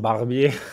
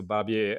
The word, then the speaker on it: Barbier: So people who don't understand how you spell it, easy is like a Barbie, the doll, and you just put the R at the end. So Barbier, and that's the same nickname and username on all the platforms.